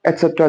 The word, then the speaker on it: y: So first talking about e, the letter y, we pronounce it as e when we are using it as a pronoun.